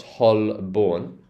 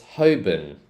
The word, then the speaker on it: Holborn: this one here here this is not Holborn it's not Holborn it's hoben so it starts off